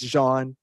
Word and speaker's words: Jean: mispronounced everyone's name tonight I said Gene it's Jean uh and Henry we